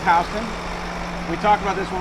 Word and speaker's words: Houston: You can see the word, it's spelled Houston, but it's pronounced Houston.